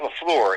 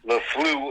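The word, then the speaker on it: LaFleur: to liken Matt lefl it's not lefl it's llu I learned that this week uh I've been saying it wrong so it's llu uh L E then fle W then e r i just you know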